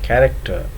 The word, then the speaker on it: character: Chemist and character, ch is pronounced as k, whereas chest and cheese, here ch is pronounced as ch.